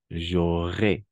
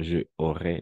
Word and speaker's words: j'aurais: Au concours, j'aurais, y no, je aurais, no. J'aurais. Todo de una. J'aurais, con una sola palabra. J'aurais. J'aurais une aide. J'aurais une aide. Tendré una ayuda. Très bien. J'aurais, pas je aurais.